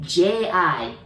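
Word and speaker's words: ぢ: be really careful because the second line, again, we want to pronounce it like D, but we don't have that sound. So we're going to pronounce it like J-I, G, exactly same as a Z line, G, okay?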